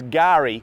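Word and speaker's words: K'gari: Fraser Island, or the other name for it, is Gari, spelt with a silent K, so it's Kagari if you were to spell it phonetically. But it's a silent K, so we say Gari, and that's the Aboriginal name for the island.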